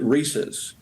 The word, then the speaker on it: Reese's: Well, the family itself, the members of the Reese family and Hershey, we've always pronounced it Reese's. But there's no wrong way to eat a Reese's, and there's no wrong way to pronounce Reese's.